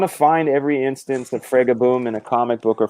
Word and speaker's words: Fragaboom: the proper pronunciation when you take my last name, which is, but you it has a modifier. You put boom next to it, it becomes Fraga. So Fragaboom is the official.